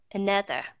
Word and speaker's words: another: Khi mà chúng ta nghe cái chữ another, another, cái âm ở phía đầu đó các bạn. Các bạn không có đọc là another. Chúng ta không thể đọc là không đọc rõ ra được mà phải lướt qua another.